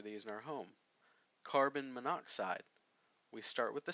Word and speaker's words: monoxide: We don't say carbon monoxide, which is the way it's spelled on the slide right now. Instead, we're going to drop that first vowel and make it carbon monoxide. Now, if we get an